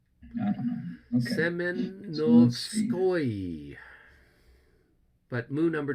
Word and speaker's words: Semenovskoye: Now we go up to the town of Simonovsky or whatever. We have the I had a Russian friend of mine tell me how to pronounce that. Yeah, that's kind of a. I don't know. Okay. Semenovskoye.